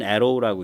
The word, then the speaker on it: ARRW: 그러니까 에어 론치트 Rapid Response Weapon이라서 ARRW, 읽기는 Arrow라고 읽습니다. 화살이라고.